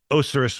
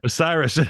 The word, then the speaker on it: Osiris: to Paul mcer of oseris white what I did I say it wrong again Osiris yeah Osiris welcome to the show